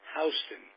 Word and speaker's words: Houston: pronounce it it's pronounced Houston like Houston Street in New York not yeah no he